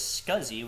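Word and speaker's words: SCSI: So let's move on to our next command which is going to be ls scuzzi. So ls ssi pronounced as scuzzi which stands for small computer system interface.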